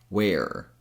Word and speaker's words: where: So, even though these two words are spelled completely different, they're pronounced exactly the same way. Just imagine that they're both spelled wer where. And that's how I want you to pronounce both.